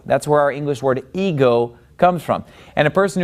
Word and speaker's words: εγώ: Now, the word ego, it gets the accent on the second syllable. See, that accent is over the omega.